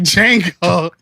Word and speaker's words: Django: The D is silent. Like Django.